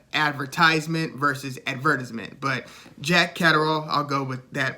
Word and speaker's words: Catterall: junior welterweight titles against jack catarrhal or if you prefer the uh the english pronunciation jack catrell yeah and an american looks at the word and basically says cataral like adderall you know it's like the